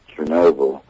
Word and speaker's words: Chernobyl: h e r n o b l e Chernobyl and I guess everybody thought at that time